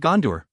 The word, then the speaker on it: Gondor: to catch myself when I mispronounce it Dar instead of door aren't they assisting artists